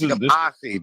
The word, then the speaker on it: Yamasee: Hey, So it's Yamasee too. That's how they pronounce it.